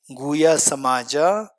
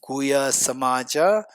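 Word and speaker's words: Guhyasamāja: Shiri Guya Samamaaja. How do you spell it? Gu U H Y A S A M A J A Shiri Guya Samamaaja Tantra root text chapter 2 this is taken out from that.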